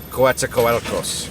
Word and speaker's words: Coatzacoalcos: Coatzacoalcos, gotta say it right.